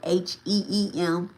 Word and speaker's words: Hreem: And even after you say, he Baglamuki Swaha, he Baglamuki Swaha, and it's he HREEM, but it's pronounced like HEEM, right?